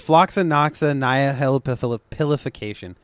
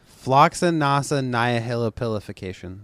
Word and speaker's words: floccinaucinihilipilification: I'm gonna really try hard to yes to pronounce this oh jeez I meant oh okay it's it's floccinaucinihilipilification floccinaucinihilipilification there we go yeah that's it you got